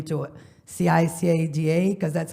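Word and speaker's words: Ciqueira: changed my name to c i c a da because that's how you pronounce it like the bug last name spelled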